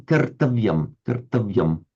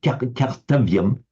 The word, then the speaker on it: kartavyam: How did you pronounce the for example, kartavyam? I thought I detected a slight hint of a French accent there. Did you say something like cartavium? Kartavyam. Cartavium is better.